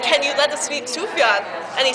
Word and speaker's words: Sufjan: I'd been saying Sufjan as if there was an extra U, when it is in fact Sufjan, with the J pronounced as a Y. Sufjan, not Sufjan.